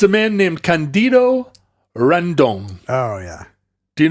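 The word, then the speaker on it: Cândido: It's Portuguese. If Portuguese is the same as Spanish, that just means you put the accent on the first Candido. syllable. It would not be Candido. It's Candido. You're saying it right.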